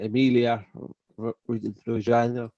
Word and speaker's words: Emilia-Romagna: Emilia, how do you pronounce it, Matt? Emilia Romagna.